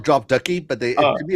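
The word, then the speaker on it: Drop Duchy: When you think of drop dooshy, what do you think of? Uh uh Keely. Uh actually, I think it's called drop ducky, but they To me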